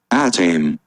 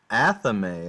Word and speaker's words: athame: whole video about it I dream I dream is definitely not right let's see this anime athame okay athame see but